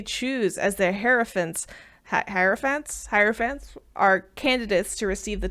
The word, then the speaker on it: hierophant: them I'm just kidding it is not air I'm wrong it is higher like hierarchy wow waffles I thought